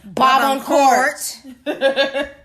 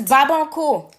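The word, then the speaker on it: Barbancourt: And if And you, the English version is Babancourt. That shit be irking me. It's like The Babancourt? nails on a chalkboard. Babancourt. It's Babancourt. Babancourt. Babancourt. That is how you say it, people.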